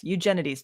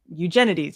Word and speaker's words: Eugenides: me all the time Abigail says pronounce it like you're an ancient Greek ancient Greek Eugen no eugeni eugeni there that sounds you're right that sounds better they're right about the